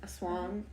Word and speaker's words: aswang: How did you pronounce it? Because you said Aswang. Aswang.